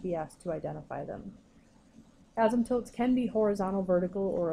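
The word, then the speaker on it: asymptote: called an ASM toote an ASM tilt this is how you pronounce it is what the graph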